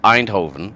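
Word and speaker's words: Eindhoven: pronounce the you hear you hear someone from either Belgium or the Netherlands say the word einhoven no they don't pronounce the N it's like with Max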